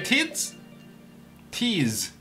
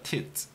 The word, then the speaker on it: Tiz: Hey Tiz is the correct pronunciation, right? Tiz, not a tits.